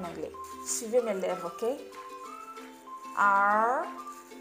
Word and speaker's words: Arthur: Arthur. Arthur. Dans le mot Arthur, on a le TH. En anglais, le TH est très important. Ça se prononce comme un S ou un Z sur la langue.